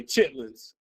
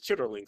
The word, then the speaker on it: chitterlings: And chitlins, black, especially black folk in the South, they say chitlins.